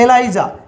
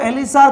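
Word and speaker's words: ELISA: आप कह रहे हो एलिसा किताबों में एलिजा मिल जाए तो हम कौन सा याद रखें इंग्लिश स्पेलिंग सेम ही रहेगी कई इसको एलिसा पढ़ते हैं कई इसको एलाइजा पढ़ते हैं आ गई बात समझ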